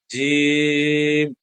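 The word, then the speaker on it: ج: তাহলে হচ্ছে কি জিম জিম এটা কিন্তু আমি একটু লম্বা করে পড়লাম আগের গুলো পড়লাম কিভাবে বা তা সাটা পড়লাম কিভাবে অনেক লম্বা করে জিম এটা আবার হচ্ছে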